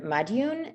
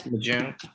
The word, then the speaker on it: Majoun: Mr. Madioun, am I pronouncing that correctly? That's fine. No, what is it? It's Majoon. Majoun.